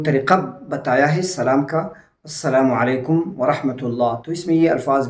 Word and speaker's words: السلام علیکم ورحمۃ اللہ: یہ الفاظ ہوں گے۔ اور صحیح تلفظ اس کا السلام علیکم ورحمۃ اللہ۔ اس کے ساتھ ایک